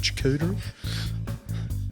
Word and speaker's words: charcuterie: It's like a charcuterie plate. There's a little fucking few nibbles here and there going on. Is that how you pronounce it? Charcuterie?